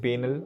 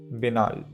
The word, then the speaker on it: banal: next one is binal although you might be tempted to call it banal or something like that the pronunciation is binal binal example i was expecting